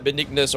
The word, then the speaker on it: Benignus: Yeah, I can see why Benignus rhymes with Jesus.